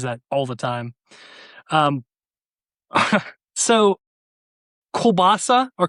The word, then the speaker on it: kielbasa: Does it end with an A or an I? It ends with an A in real life, but the way that it's spelled online, it looks like it says kielbasi.